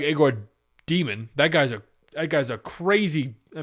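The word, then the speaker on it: Egor Demin: People say Yegor Demon, Igor Demon. More like Igor Demon.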